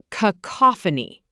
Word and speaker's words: cacophony: Cacophony. Pronounced cacophony.